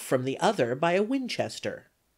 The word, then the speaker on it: Winchester: In order to get the exact pronunciation of this word, as it is used in this neighborhood, you want to pronounce it with a very long drawl, and the accent on the second syllable.